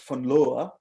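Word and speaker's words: von Laue: demonstrated by this gentleman fowa uh it's pronounced fowa in 1912 um and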